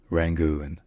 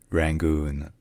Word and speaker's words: Rangoon: Yangon, and in English, there are many different pronunciations. You have the choice to either use the old transcription, which is Rangoon, Rangoon, or the new one that you can read